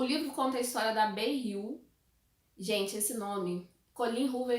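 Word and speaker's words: Beyah: Até que a própria personagem vai e pronuncia o nome dela, ela diz que se pronuncia como Bei-yu.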